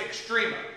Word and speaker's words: extrema: Some people pronounce it extrema, long E, short E.